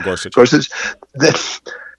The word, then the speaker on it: Gorsuch: and also, I'm not even sure how to pronounce his name. Is it Gorsuch? Neil Gorsuch? Yeah, Neil Gorsuch.